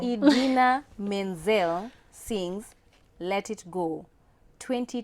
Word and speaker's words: Idina Menzel: Indina Menzel. Wow. It's already a wrong. Name wrong. Idina Menzel sings Let It Go 20 times in the Let It Go from Frozen.